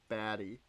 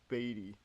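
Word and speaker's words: Baty: I have been pronouncing it baddy. I would have never thought it was Batty.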